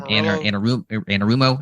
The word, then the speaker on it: Anarumo: Anarumo, I believe it is.